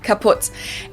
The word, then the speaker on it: kaputt: We spell it with 2 T's in Germany, but we pronounce it the same way, kaputt.